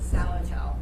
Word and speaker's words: Zalatel: Zalatel. Zalatel. Not Zalatel or Zalatel or No, rhymes Zalatel. Rhymes with what the hell?